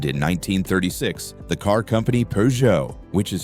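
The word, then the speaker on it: Peugeot: And in 1936, the car company Pujo, which is spelled PJO, hired him to create a super streamlined version of their 402 model.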